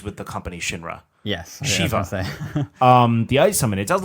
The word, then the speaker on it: Shiva: Pronounce it Shivra. Shiva. I don't know. That's another. I think I got it confused with the company Shinra. Yes, Shiva.